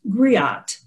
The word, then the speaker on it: griot: a term right now which is griot it's spelled g-r-i-o-t-e and that's a french term for an ancient west african tradition of oral history and the term griot are the female oral historians and the term grio which is spelled g-r-i-o-t are the male oral historians this ancestor was our